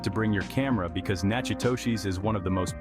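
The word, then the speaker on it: Natchitoches: be Charmed because we're heading to naoshi pronounced naku Tish the oldest city in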